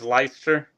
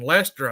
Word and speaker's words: Leister: Is it Leister or Lester? It's Leister. Leister. Okay. Yes, sir. Okay. I was saying Lester, I think, the whole time y'all were racing.